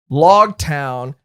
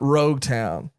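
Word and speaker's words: Loguetown: It's Log Town, as in prologue, epilogue, not Rogue Town.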